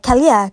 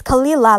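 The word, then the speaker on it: Kelilah: my name is k-e-l-i-l-a-h they keep trying to say it like muslim like kaliya kalyan like i'm like no like it's kalila like like like everywhere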